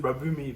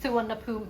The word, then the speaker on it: Suvarnabhumi: I always used to think you pronounce it Suvarnabhumi, but it's not No, right. it's just Suvarnabhumi.